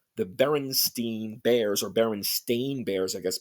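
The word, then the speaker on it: Berenstain: now the proper or the accepted is b r n s t a i n like stain you know like you stain something but a lot of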